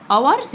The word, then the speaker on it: hours: i g h t hours هنا حرف ال h في كلمة hours كلمة ساعات يعني حرف silent يكتب ولا ينطق hours hours h o